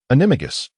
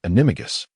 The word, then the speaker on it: Animagus: Amato, Animo, Animato, Animagus. Chris recited. Wait, the syllable of Animagus must be articulated.